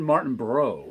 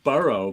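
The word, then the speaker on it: Martinbrough: ton of short actually it's actually sean martin bro i think it's not i keep saying burrow but i don't think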